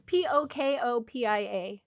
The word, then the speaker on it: Pokopia: It's Pokopia.